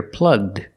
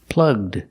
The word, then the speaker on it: plugged: And if we change the verb to past, we hear plugged, plugged. The ed is pronounced with the d sound.